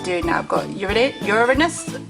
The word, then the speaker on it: Uranus: pets left to do now I've Got Ur Uranus Uranus or Uranus that's how you say it and Neptune and